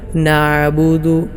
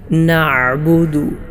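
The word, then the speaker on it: نعبد: കട്ടിയോടുകൂടെ ഉച്ചരിക്കാറുണ്ട് നാബുദു ആ പാരായണം ശരിയല്ല ഐൻ ഇല്ലാത്തതുപോലെയും ഉച്ചരിക്കാം നഹ്ബുദു നഹ്ബുദു ആ പാരായണം ഒന്നും ശരിയല്ല മറ്റു ചിലർ നഹ്ബുദു നഹ്ബുദു ഐനിൽ ഒരല്പം കൽക്കല കൊടുത്തുകൊണ്ട് ഹംസ പോലെ ഉച്ചരിക്കാറുണ്ട് ഈ പാരായണങ്ങൾ ഒന്നും ശരിയല്ല എങ്ങനെയാണ് ശരിയായ സ്വഹീഹായ രൂപത്തിലുള്ള ഉച്ചാരണം നഹ്ബുദു നഹ്ബുദു ഇയാക്കു ഇങ്ങനെ നിങ്ങൾ ഒരുപാട് തവണ പരിശീലിക്കണം അടുത്ത പദം വയ്യാക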